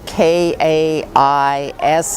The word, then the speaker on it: Kaisei: project kais is devoted to cleaning up the Pacific vortex, the north pacific gy area.